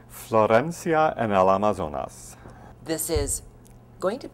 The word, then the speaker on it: Florencia en el Amazonas: this is the second Opera in your season pronounce the name of the Opera for us so we all get it right Florencia and Al amazonas this is going to sound familiar to our